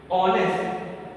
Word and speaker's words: honest: For example, one more time I am repeating, the word honest starts with like word H, but when we look at the pronunciation O, the first word is O, so we have to write he is an honest man because first word that we sound is O.